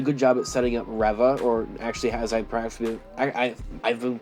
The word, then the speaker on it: Reva: It did a good job at setting up Reva, or actually, as I've been pronouncing it wrong these last couple of months, actually, at this point. It's Reva. I always said it was Reva.